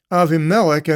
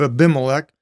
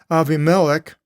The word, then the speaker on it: Avimelech: And with Avimelech, and there's the Greek pronunciation instead of Abimelech, Avimelech, the king of Gerar, leaning over through the window, he beheld Isaac playing with Rebekah, his wife.